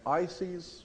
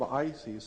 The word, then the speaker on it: Isis: Isis was a feminine principle of wisdom in Egypt. It's spelled I-S-I-S, Isis.